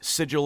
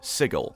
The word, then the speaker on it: Sigil: This is like GIF versus JIF, only this time the people saying the guh sound are the idiots, which is unfortunate because the inhabitants of Sigil get angry when you don't say Sigil.